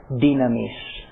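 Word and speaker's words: δύναμις: In seminary Greek, the word is dunamis. I prefer to use the modern pronunciation in Greek. It seems to go better. It's easier to read it that way. Dynamis.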